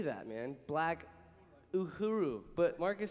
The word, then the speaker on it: Uhuru: Black Uhuru. But Marcus said, you said Guru.